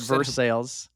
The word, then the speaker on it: Versailles: Spelled like Versailles, but Versailles.